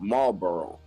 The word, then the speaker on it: Marlborough: Look up the statue of Marlborough. A statue to Marlboro cigarettes? Nope, it's spelled like no, it's not even spelled like that, but it's pronounced like that.